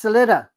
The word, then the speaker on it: Suletta: That's Celta.